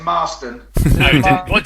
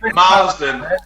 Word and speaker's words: Marston: sort of kicked on sorry we've got a big pronunciation issue here it's marston what did i say marsden so we did